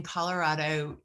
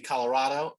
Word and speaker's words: Colorado: with the beer distributors my preferred pronunciation would be colorado although i i do acknowledge some say colorado uh and so uh or even not to missouri colorado but colorado is i think probably the preferred pronunciation and we don't upcharge